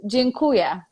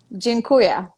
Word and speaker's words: dziękuję: So I want to teach you how to say thank you in Polish, and it's dziękuję. Dziękuję? Dziękuję. Dziękuję. How do you spell that?